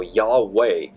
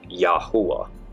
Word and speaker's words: Yahweh: popularity in the 1300s so Yahweh is the butchered Yiddish version of the name of God the true somatic Hebrew pronunciation is yahuwah which means I am existence we now know that